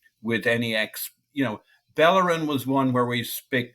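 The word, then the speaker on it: Bellerín: any ex you know bellerin was one where we speak you know we knew him as bellerin and then he was bayin and that's just odd so let's not do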